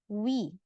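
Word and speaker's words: 위: Ini dibacanya wi. U sama I kalau ya Rabun lafalkan secara cepat itu akan terbunyi atau terbaca sebagai wi.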